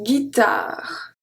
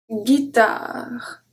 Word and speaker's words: guitare: After G, we don't pronounce the U. We have la langue. La langue. Longue. Longue. Une guitare. Une guitare. So why do we have a U? It's simply because if there is no U, the G will turn into a soft G.